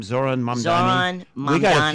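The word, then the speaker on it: Zohran Mamdani: Zoran Mamdani.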